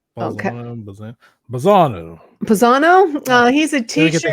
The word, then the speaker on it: Balzano: Is that how you pronounce his name, Sean? Balzano. Okay. Balzano.